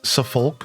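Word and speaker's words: Suffolk: You don't pronounce the L and Safulk.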